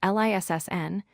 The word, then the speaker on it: listen: The word listen is spelled L-I-S-T-E-N, but we pronounce it as L-I-S-S-N, not saying the T.